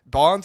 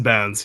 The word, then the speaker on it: Bounds: Bonds or Bounds? I'm saying it wrong. Bounds, you got it. Okay, Bounds.